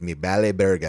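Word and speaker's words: me vale verga: And it's remember the V's are kind of pronounced like B's like like vente is bente. Um so it's me bal burger and it means like I don't give a Yeah.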